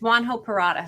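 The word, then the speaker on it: Juan José Purata: same thing we're like how do you say his name it's juan ho parata so we asked about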